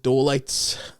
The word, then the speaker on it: Doleights: It's called the Doleights. Thinking like delights, but Dole spelled with Dole.